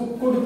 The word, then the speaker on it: could: इसको कुड पढ़ते हैं, इसमें भी एल साइलेंट रहता है।